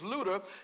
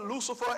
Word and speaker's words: Luter: even pronounce my name my name is luta and they were calling that they were calling me Lut Luther Lucifer everything all kind of